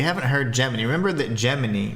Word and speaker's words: Gemini: Remember that Gemini, right, is actually, it's pronounced Gemini in the game, so it can be closer to Jiminy, like Jiminy Cricket.